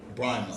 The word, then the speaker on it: Brahma: I always say your name wrong. Is it Brahma? Brahma.